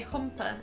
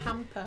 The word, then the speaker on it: hamper: You used to say humper instead of hamper.